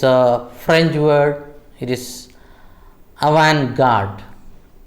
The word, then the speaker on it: avant-garde: It is avant-garde. The T is silent.